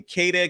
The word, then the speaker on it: Queta: His first name is Neemias, Neemias, last name Queta, Queta.